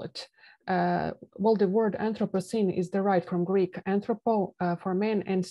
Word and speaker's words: anthropocene: uh well the word anthropocene is derived from Greek anthropo for men and seen for new it although it does rhyme with appliestocene Holocene and so on it's